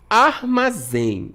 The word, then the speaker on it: armazém: Então, é uma oxítona, a sílaba mais forte é a última. Terminou em EM, temos o acentinho aqui, o acento agudo. Som aberto, armazém, né?